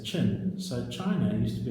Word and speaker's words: Qin: Today we pronounce Qin as Qin.